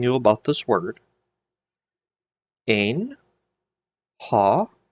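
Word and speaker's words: ὁ: Ein, ha, because of the rough breathing mark, you get the H sound, so ha, logos, chi, ha, logos, ein, pros, ton, theon, chi, theos, ein, ha, logos.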